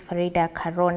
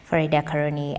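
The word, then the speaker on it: Farida Karoney: apologies for that now the land's cabinet secretary's name is farida Caron and not far koni as as earlier pronounced now moving on leaders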